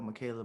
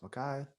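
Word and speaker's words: Ma'Khia: that poor girl, Michaela Bryant. That one Is it is Michaela or Makai? is it Micaiah? Micaiah or Michaela? I don't know how to Makai. pronounce it. Micaiah. Oh, it's Micaiah.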